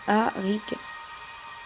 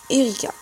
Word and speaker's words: Arika: Arika, ça se prononce Arika. J'avais compris. Mais tout le monde dit Erika.